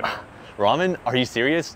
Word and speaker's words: ramen: Do you want to go get ramen or not? Because I'm going to leave right now. Ramen? Are you serious? No, it's ramen. It's like an L sound, but you kind of pronounce it R too.